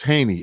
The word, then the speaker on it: Haynie: okay so haney is pronounced like hey and then knee like your knee but it's spelt like h-a-y like hey that courses eats yes and n-i-e got you so that's haney h-a-y-n-i-e dot com you